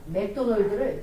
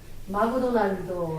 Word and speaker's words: 맥도널드: 맥도널드를 제대로 발음하지 못하고 마구도날도 하는 것입니다.